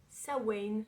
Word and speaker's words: Samhain: c'est sur la thématique de sa parce que c'est comme ça que ça se prononce voilà alors c'est une